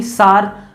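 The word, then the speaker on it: Tsar: हो स्पेलिंग इनकी है, जार निकोलस II कहते हैं इनको, सार निकोलस II भी इनको कहते हैं, प्रोनाउंसिएशन आपको इनकी जार और सार भी की जाती है।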